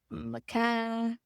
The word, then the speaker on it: macaw: and that's how it's spelled. Macaw.